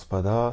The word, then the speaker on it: SPVDV: fait le mot donc c'est Spada ça se prononce Spada ça vient d'un pote à moi qui s'appelle